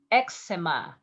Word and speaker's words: eczema: Eczema. You pronounce in Spanish eczema. Eczema. In Spanish, you said eczema.